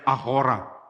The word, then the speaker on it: agora: Kota Yunani di center itu ada agora. Nah, saya diberitahu oleh orang yang ahli bahasa Yunani kuno atau klasik, katanya bacanya ahora.